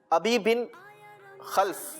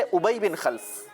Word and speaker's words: ابی بن خلف: اور ایک چیز بیان کی گئی، ایک نام بیان کیا گیا ابی بن خلف. جی اصل ہے ابی بن خلف.